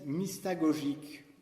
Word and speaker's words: mystagogique: Il parle aussi, le cardinal Danels, de la catéchèse mystagogique. Alors c'est un mot barbare peut-être pour vous. Comment ça s'écrit?